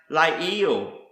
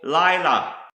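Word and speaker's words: לַיְלָה: Another Hebrew word is pronounced Lael or Layla, and this is simply the word for night.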